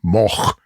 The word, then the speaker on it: Moog: He was basically experimenting with a Moog, or if you want to be ultra correct in the pronunciation, Moog synthesizer.